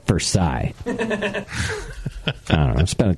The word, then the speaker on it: Versailles: Have the French influence, but they keep the pronunciation. But the Missourians were like, no. Sort of, yeah. I mean, we don't like them French. Yeah. No. You know, we like them enough to take their name, but not enough to pronounce it like they.